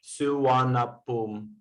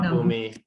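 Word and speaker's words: ภูมิ: have savarna pum airport this airport is called boom boom not boomi yeah because thai comes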